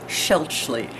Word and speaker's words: Schaelchi: pronounce your last name my last name is pronounced schelchly yes and that swiss